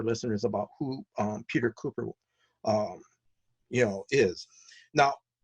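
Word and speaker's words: Kuper: from your website and correct me on the pronunciation of the name um Peter um C copper cooper cooper okay Cooper he's known for Mad Magazine spy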